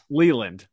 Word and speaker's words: Leland: Leland. It's Vreeland and Leland. I was like, it rhymes with Vreeland. Like famous Detroit Tigers manager Jim Leland.